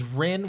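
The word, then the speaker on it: Rynn: believe that it was Ren which is spelled r y NN if you guys want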